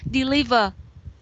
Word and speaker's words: deliver: and besides that zoom you say deliver deliver not deliver deliver yeah the sentence the stress is on the second syllable we say deliver right so sentence b sounds